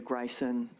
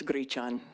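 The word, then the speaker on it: Gryczan: Madame Chair, members of the committee, my name is Gryson. That's spelled G R Y C Z A N or something close. My grandmother called us Gichchan, which means buckwheat in Polish, as did some of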